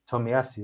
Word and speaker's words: Tomiyasu: I'm going to say it wrong, but it's going to sound right. Tomiyasu, that's it. No, you're saying it right, bro.